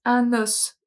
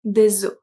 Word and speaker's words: os: but os, so bone, is one of the irregular plural in French, but only for pronunciation. So it's pronounced un os when it's only one, and when it's a few, we have des os, des os.